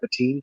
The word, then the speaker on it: Bottin: You had Rob Bottin doing the that's how you say his name, right? Bottin. Mm-hmm. His name is spelled weird. It doesn't look like Bottin.